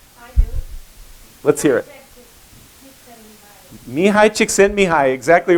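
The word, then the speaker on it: Mihaly Csikszentmihalyi: Anybody know how to pronounce his name? I do. Let's hear it. Mihai Csikszentmihalyi, exactly right.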